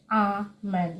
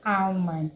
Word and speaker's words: almond: Also, almond. Almond. You don't say almond because the L in this word is silent. I hear a lot of speakers usually say almond. It is almond.